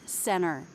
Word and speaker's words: center: But often, when it follows the N, we actually leave it out altogether, like in the word center. Center. I say no T there.